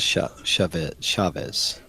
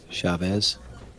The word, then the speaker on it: Chavez: So it is Chavez. That's how I usually pronounce that name, Chavez.